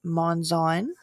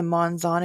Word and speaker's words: Monzon: Her last name is pronounced Monzon, so I apologize. And also, besides the Monzon, if you are her in-laws, it is Monzon.